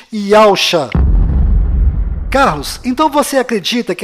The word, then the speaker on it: Yahusha: A pronúncia do nome de Josué deve ser Yahushua, e a pronúncia do nome do Messias é certamente Yahusha.